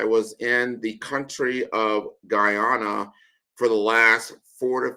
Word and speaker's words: Guyana: I'm going to say my perfect pronunciation is Gana. So there's a big Gana there. So it's not Ghana, it's Guyana.